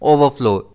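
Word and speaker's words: overflow: इसे हम प्रोनाउंस करते हैं ओवरफ्लो। इसमें स्ट्रेस एफ पर रहता है।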